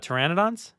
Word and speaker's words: pteranodon: So I have the subtitles on, and it said the P is silent. Were they talking about pteranodons?